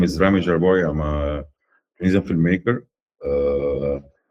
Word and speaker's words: Jarboui: Please welcome Rami Jarboui, right? Is that how you Yeah, pronounce Rami it? Jarboui.